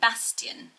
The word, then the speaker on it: Bastian: to play and next up is the name bastian bastian so i've always thought actually that it